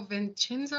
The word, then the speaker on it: Vincenzo: Listen, I'm gonna tell you, if you don't watch Vincenzo, Vincenzo.